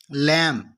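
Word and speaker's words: lamb: लैम, लैम का यानी कि बी इसको नहीं बोलना, लैम्ब नहीं बोलना बल्कि क्या बोलना है, लैम।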